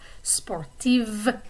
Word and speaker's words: sportive: form sportive so notice the difference in the pronunciation of the consonants and those words spartif is like f sportive v sound okay so i could say sportive and that's true i like to run gemko